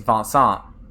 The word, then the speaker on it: Vincent: you know he is he has a French name also so he's vonsant uh in Japanese and he's uh written as Vincent in English but in English I still call him Benson because that would be confusing if I start calling him fun song um but yeah for